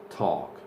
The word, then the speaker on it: talk: the next one is talk you don't pronounce the L and the a becomes an O not a lien of